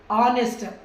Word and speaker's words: honest: Here is the H is silent అండి. honest man లో హా అనేసి అనొద్దు, honest ఆ.